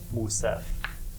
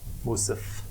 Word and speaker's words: Musif: It's almost like he cuts off the second vowel that would be in Musef. Like he's almost running the Musif, the F together with the S, which is not really how any Suenist would pronounce Musef.